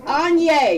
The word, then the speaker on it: Anye: Come on, give it up for Anye. It rhymes with Kanye.